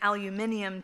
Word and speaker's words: aluminium: He rolls up his paper in a large tube, and I would be remiss without saying an aluminium tube, how he pronounces it.